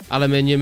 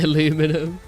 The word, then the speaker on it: aluminium: Aluminium in Canada. Okay, thank you. You just said it right. We do not say aluminum still ring crafting.